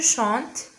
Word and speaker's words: chante: Alors on dit je chante, tu chantes, il chante, elle chante, on chante, nous chantons, vous chantez, il chante, elle chante. Ici, on ne prononce pas le en final, égal le son vide.